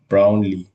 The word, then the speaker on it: Brownlee: This Maris um Brown Brownley, that's how you say his name.